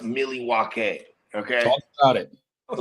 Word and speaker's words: Milwaukee: First of all, according to the indigenous folks from that area, it's pronounced Milwaukee.